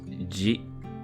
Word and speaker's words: ジ: ジ You'll pronounce this as G. This character is an exception in this set as it's not a Z syllable.